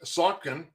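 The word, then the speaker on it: Saucon: this pittsylvania's and I'm going to pronounce this the way I think it's supposed to be sunken s-a-u-c-o-n Valley School District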